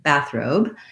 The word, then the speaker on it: bathrobe: the second syllable but in the word bathrobe i also have to have some length and stress on the robe or it's going to sound like bathroom it doesn't sound correct